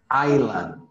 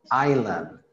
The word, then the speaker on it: island: Iceland Iceland I island island island like in the name Rhode Island Rhode Island Rhode Island